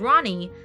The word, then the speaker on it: Rani: to a girl and is pronounced as ronnie so it's prone to